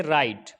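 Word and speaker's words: write: इसी तरीके से राइट, आर से पहले डब्लू है तो डब्लू साइलेंट हो जाएगा।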